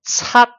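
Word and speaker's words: 七: For example, number 7 in Cantonese will be pronounced cat. Cat is equal to tone 1. But the only difference is the Yuping romanization will be spelling CAT. The end is T, right?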